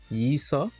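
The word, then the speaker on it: Leeseo: yeah i am aware the proper pronunciation is isa sort of like a slightly slurred slightly silent l how did i learn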